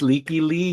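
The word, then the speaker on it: Lykke Li: So this one, Juan mentioned we had Possibility by Leaky Lee. Is that how you say it? Miss Leaky Lee, yes.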